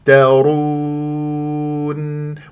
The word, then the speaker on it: يفترون: هكذا بهذه الطريقه يف يفترون ولا تجعل غنه في الواو يفترون لا اضب الشفاه الى